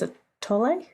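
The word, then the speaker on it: atole: eating tamales and drinking I think it's a tole is how they say it a t o l e um but tamali so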